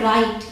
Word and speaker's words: write: अगला है WRITE, इसे प्रोनाउंस करते हैं राइट। यहाँ पे W साइलेंट होता है, ठीक है।